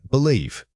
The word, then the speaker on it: believe: Say it again, believe. Pay special attention to the difference between the short I and that long E sound. The length of that vowel is what separates mistake from correct pronunciation.